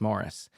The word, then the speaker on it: Maurice: Forster's Morris, and it's spelled Maurice, but the British pronunciation is Morris.